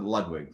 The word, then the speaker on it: Ludwig: Ludwig, I pronounce it Ludwig for what it's worth.